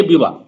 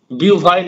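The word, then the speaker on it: Beauvoir: তো আমি বলি যে রাইট প্রোনাউন্সিয়েশন হচ্ছে সিমন ডে বিওয়া, বিউভয়ের নয় কিন্তু।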